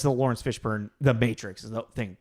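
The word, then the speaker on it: Fishburne: no we haven't I it's fish burn not fish burn sorry yeah no I I I kind of realized that not too long ago that I've been pronouncing his name wrong the entire time I always thought there was an o in there it's just fish burn besides this what do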